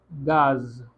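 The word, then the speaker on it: gaz: इसको प्रोनाउंस करते हैं गाज, गाज। ओके, गाज क्यों? क्योंकि जी हमारा ए के साथ आ रहा है।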